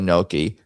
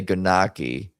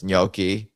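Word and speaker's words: gnocchi: How do the Italians say noki? Is that right? The G is silent. You say you do not say ganaki. The gn makes a soft nasal ny sound similar to the in Spanish.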